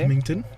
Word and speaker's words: Symington: Symington. I noticed because my sheet doesn't have a G. That's why I've been pronouncing it like that. Neither did the one The I G was is given, silent, mate.